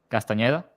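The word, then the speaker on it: Castañeda: in a big way Castaneda yeah oh yeah that is how you say it like he's like War Ready like casting yeah it sounds like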